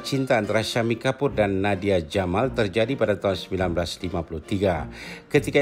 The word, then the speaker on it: Nadia Gamal: penari tarian perut terkenal Nadia Jamal walaupun ramai yang menyebutnya Nadia Gamal karena ejaan namanya ini Tuliskan dengan huruf j Nadia membuat persembahan tarian